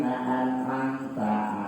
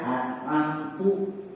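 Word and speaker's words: أنعمت: Seperti kayak sirotol lagi an'amta alaihim, kita bacanya tak, itu benar. Tapi kalau kita salah, kita bacanya an'amtu, berapa itu?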